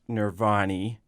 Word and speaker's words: Nirvani: our name is pronounced nirvani right case nobody knows that it's nirvanni has an eye on the end of it i on the end of it and we are a